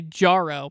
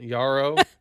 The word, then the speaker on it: Yarrow: from Tarkov, you say Jarro because you didn't do any research on how to pronounce the Marathon terms. Okay, that was irrelevant. Yarrow.